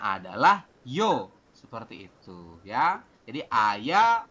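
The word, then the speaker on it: 여: Dibacanya adalah yo, seperti itu, ya.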